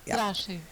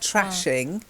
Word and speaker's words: thrashing: Thrashing. And thrashing. Uh-huh. Yeah. Thrashing. Make sure Yeah. you get. Yeah. Exactly. It's the Yeah. sound. Otherwise, I it sounds know. like trashing.